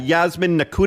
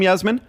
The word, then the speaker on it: Yasmin Nakuta: now this is uh yasmin nakuta is how you say your name yasmin that's correct okay yasmin thank you